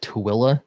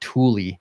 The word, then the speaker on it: Tooele: that had been to Tooele to hide everything there, he called it Thule because that's kind of how it's spelled.